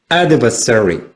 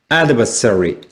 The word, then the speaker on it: adversary: 자, 첫 번째 액센트는 여기 있죠. 자, 1강세입니다. 두 번째, 2강세죠. 그래서 이렇게 발음이 됩니다. 자, 이렇게 되죠. adversary. 자, 같이 읽어보시겠습니다. adversary.